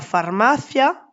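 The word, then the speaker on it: farmacia: Par contre, on dit la pharmaia, il n'y a pas d'accentonique sur la dernière syllabe. Il n'y a le i et le a ne sont pas séparés. On ne met donc pas d'accent.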